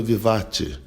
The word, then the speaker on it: vivace: 19 o andamento vivatti né inscreve-se vivace mas a pronúncia do italiano vivatti a quer saber se